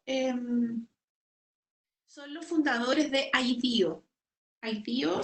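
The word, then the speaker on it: IDEO: son los fundadores de bío bío se escribe e ideó como idea pero como así es una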